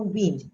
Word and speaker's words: wind: We know wind. Okay, many people know this as wind, but it's also wind.